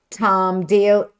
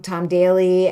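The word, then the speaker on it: Tom Daley: It has Tom Dale. Oh my God, am I saying his name wrong? Tom Daly and Di Gilpin and Sheila.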